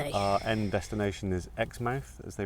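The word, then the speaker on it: Exmouth: Our end destination is Xmouth as they pronounce it or Xmouth like we have in England.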